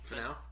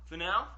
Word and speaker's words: Finau: Finau. Finau.